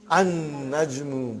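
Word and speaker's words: النجم: So how will you pronounce, brother? An-najmu ba'idun. You did not pronounce lam.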